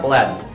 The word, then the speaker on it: Bladden: Hi, I'm Bladden. Rhymes with Aladdin, but I'm way cooler.